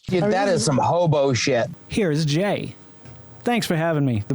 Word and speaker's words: Gey: a matter of fact it's jay you know like jay jay jay well i apologize then